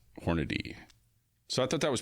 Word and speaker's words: Hornady: It's actually Hornady. Hornady. Okay. Yeah. According to this, simply pronounced Hornady.